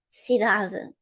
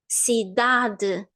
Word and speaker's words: cidade: So the first word is cidade. Cidade. Cidade. Do you think I'm pronouncing the u?